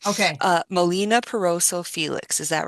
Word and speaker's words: Melina Piroso Felix: Uh, Molina Perroso Felix.